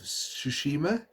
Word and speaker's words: Tsushima: I do want to pick up, though, on the PlayStation 4, Ghost of Tsushima. That's how you pronounce it.